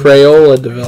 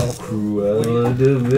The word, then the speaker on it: Cruella de Vil: Crayola de Vil. Cruella de Vil. You're saying the name wrong.